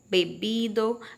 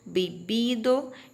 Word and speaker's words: bebido: no livro, tem comido, bebido, bebido e tem reído, tá? Percebam que nós temos bebido e bebido. É praticamente a mesma pronúncia, porque a letra V em espanhol tem som de B, certo?